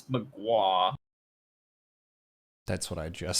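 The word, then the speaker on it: Mgła: It's got 3 consonants in a row. I think it's mgwa.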